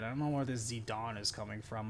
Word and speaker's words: Zidane: accept it because yeah zidon is the French name and the correct pronunciation of that game or pronunciation actually still